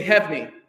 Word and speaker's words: Heavney: But not 3 syllables, 2 syllables. If you do 3 syllables, everyone will finish the movement 6 minutes before you. So, say Heavney. You guys are so funny. You're trying to put a ghost syllable in there. Say, watch. This hand is hev, and this hand is knee.